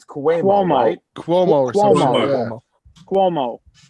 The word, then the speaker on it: Cuomo: say his last name its quick wall might Cuomo Cuomo like okay like with a Q calm